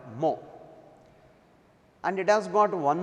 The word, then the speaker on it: mho: Ohm is pronounced in opposite order mho, and it has got one more unit that is known as Siemens.